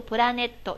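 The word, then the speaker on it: プラネット: 本来应该读作一个プラネット，就是歌名哈。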